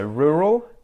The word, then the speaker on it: rural: better better okay so rural I pronounced both R's in rule rule rule rule and the a at the end there becomes like a schwa sound ruh rule very I